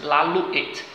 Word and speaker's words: Lalouette: de Lalouette, ou seja, o T é mudo no final e são dois L's, Lalouette.